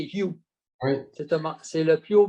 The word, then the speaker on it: HU: Mais mon ami me disait, les gens, ils pensent que c'est U. Ça se prononce U. Tu sais, quand on prend un cheval pour dire U, U, pour qu'il avance, hein? Mais en fait c'est le U, en anglais, c'est You.